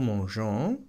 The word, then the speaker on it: mangeons: Y añadimos una E entre la raíz y la terminación ONS porque la necesitamos para que se pronuncie el sonido je. Por ejemplo, nous mangeons, añadimos esa E.